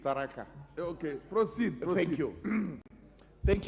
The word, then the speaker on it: Tharaka: You pronounce it Tharaka Nithi, it's Tharaka.